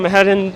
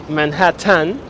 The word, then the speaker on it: Manhattan: with w-y-a-w-k york accent it is pronounced manhattan with the short t and that's why i